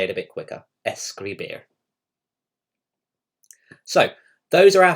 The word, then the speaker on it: escribir: I can definitely hear the S at the beginning and the beer at the end.